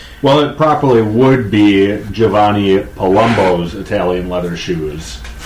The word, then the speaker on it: Giovanni: is more proper pronunciation the Italians don't pronounce long vowels like Americans tend to do oh it's not Giovanni its Giovanni huh little smoother that's